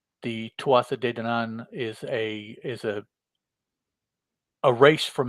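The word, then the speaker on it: Aodh: female we have a which in the story is pronounced is spelled a-o-d-h but it's pronounced a as far as i could tell see like mine's thinking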